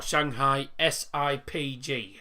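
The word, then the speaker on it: Shanghai SIPG: is shanghai zip or shanghai s-i-p-g as everyone calls them i tend to just call them shanghai sip because you know that's what it is it's spelled shanghai sip hello hello devil sorry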